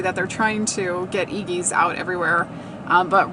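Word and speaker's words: Eegee's: That's how you pronounce it, Iggy's.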